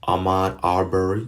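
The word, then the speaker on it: Ahmaud Arbery: lot of you people are distraught that's all Amnon Arbour and that's how you pronounce his name his killing that happened a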